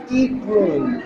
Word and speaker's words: Eklund: Ito po si Ma'am Emilia Eklund. Tama po ba? Yes, Okay. Mahirap po kasi i-pronounce po yung Swedish surname niya, pero siya po ay Eklund.